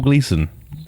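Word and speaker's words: Gleeson: say his name correctly it's bre it's bread gleon bread GLE and donut GLE donut GLE or no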